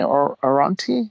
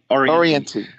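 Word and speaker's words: Orianthi: I think it was, how do you pronounce it? Oranti, maybe? I'm sorry, I don't know how to. Oriente. Yeah. Yes.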